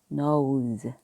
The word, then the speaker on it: nose: 그러면 양쪽에 모음이 있으면 살짝 지읒 소리 난다 그랬죠? 우리가 흔히 말하는 Z의 지읒 소리입니다. 그런데 Z도 또 콩글리시 발음이에요. 그거는 이제 우리끼리 편하게 이야기하자고 하는 거니까 전문가들 이상하게 또 걱정하지 마세요. 니은은 N은 니은, 그 다음에 오우, 그 다음에 S 양쪽에 있으니까 지읒. 그래서 nose, nose, 코가 됩니다.